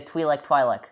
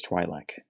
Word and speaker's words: Twi'lek: This is maybe a Twi'lek situation. It's Twi'lek. It's Twi'lek, but some people pronounce it Twi'lek.